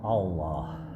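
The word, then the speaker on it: الله: Coba Bapak baca Allah nah masih salah karena huruf alif terseret ke dalam huruf lam jadinya Allah Allah Bacanya adalah Allah Allah Allah a tetap a bacanya ya ingat ketika kita fathah janjinya adalah setiap fathah harus terbuka a a Allah Allah Allahu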